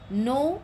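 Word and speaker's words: know: हैं वाक्य के अनुसार नो यहां पर के साइलेंट है नो मतलब जानना मैं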